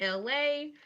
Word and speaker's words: Elay: This is me, LA. Pronounced like LA, not like the city.